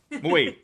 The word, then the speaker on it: Moe: is Pixel, Trick, and Moe. It's one syllable, but I know that's hard to do. I know it is. Moe.